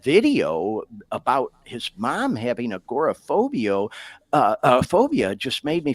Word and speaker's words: agoraphobia: I think is that how you say it agoraphobia yeah yeah and he he you know I